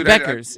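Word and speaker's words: Bueckers: Hey, I speaking of pronunciation, isn't it Beckers? Isn't her name Beckers? Is it? I don't know. It's Beckers. It's Anyway, whatever.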